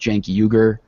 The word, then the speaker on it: Cenk Uygur: It was started by, I believe it's pronounced Cenk Uygur, who formerly worked for MSNBC.